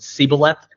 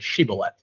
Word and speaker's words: Shibboleth: Like, one group of them pronounced it Sibboleth and one of them pronounced it Shibboleth.